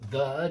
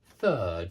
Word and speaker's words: third: Yeah, it's not third, it's third, so it's voiceless.